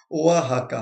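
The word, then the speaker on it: Oaxaca: ये अभी रिसेंटली हमारे ओआ है ना, क्या कहते हैं, ओहा हका, ये रहा इसका प्रोनाउंसिएशन, मैंने लिखा है प्रोनाउंसिएशन ओआ हका। हाँ, ओआ हका।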